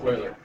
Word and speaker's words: Euler: It's Euler. It's pronounced Euler.